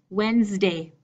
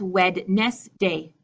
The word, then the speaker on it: Wednesday: to go spose idli Wednesday Wednesday this is not wed nest day wed nest day mmm